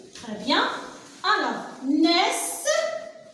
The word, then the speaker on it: naissent: Alors, naissent, ici, N avec AI, le son E, c'est né. Alors j'appuie ici parce qu'il y a double consonne avec le E, le NT sont muettes.